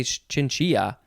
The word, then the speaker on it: chinchilla: last word is chinchilla c-h-i-n-c-h-i-l-l-a i guess you could possibly say chinchia because it has the double l uh and it is spanish but it doesn't say